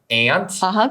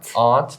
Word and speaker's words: aunt: Did you pronounce aunt like a British person? Sometimes you can say as an American, we'll say aunt. Great-aunt. Great-aunt or aunt. Both are okay.